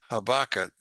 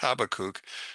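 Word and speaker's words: Habakkuk: Now as the prophet Habakat or Habakuk which is the way it should be pronounced Habakuk says in 214 for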